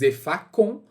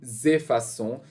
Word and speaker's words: effaçons: Então, nós apagamos, não pode ficar dessa forma, senão vai ficar o som de nous effacons. Então, para evitar pronunciar com, a gente vai adicionar uma cedilha no C. Fica aí, então, nous effaçons, sem esquecer a ligação entre o nous e o effaçons.